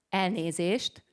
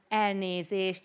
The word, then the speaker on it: Elnézést: We have this sh, I mean S in English, but we pronounce it sh.